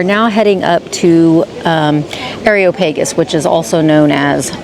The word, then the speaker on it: Areopagus: All right, we are now heading up to um Areopagus, which is also known as Mars Hill.